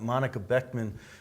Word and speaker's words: Monika Boeckmann: And I pronounced the name right? You did, okay, absolutely.